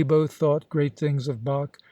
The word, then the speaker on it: Bach: thought great things of Bach whom I found I was calling quite incorrectly batch and Mozart who also